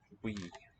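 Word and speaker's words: buí: We.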